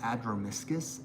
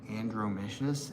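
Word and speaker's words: Adromischus: on um Adroiscus and I was saying andromicious and I had somebody like call me out in the comments and I was like I didn't realize this that there was no N in the beginning.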